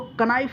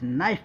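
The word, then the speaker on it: knife: नाइफ, नाइफ का मतलब चाकू, इसको कनाइफ नहीं पढ़ेंगे गाइस, नाइफ पढ़ेंगे, ठीक है, के साइलेंट है।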